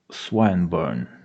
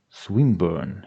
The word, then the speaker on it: Swinburne: "This man, Swinburne," he began, attempting to put his plan into execution and pronouncing the I long. "Who?" "Swinburne," he repeated with the same mispronunciation. "The poet." "Swinburne," she corrected.